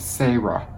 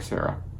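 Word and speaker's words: Sahra: That name is pronounced Sarah.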